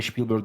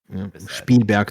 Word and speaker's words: Spielberg: Steen olarak mesela Spielberg'e Spielberg demiyorlar. Spielberg diyorlar. Spelber demiyorlar normalde. Orijinali ama şey Almancadandır.